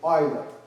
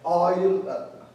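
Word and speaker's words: Euler: him G he's o it's like oil oil okay that's how it's pronounced is a Swiss mathematician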